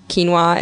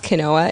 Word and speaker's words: quinoa: social situation where i can mispronounce quinoa is kanoa and just keep doing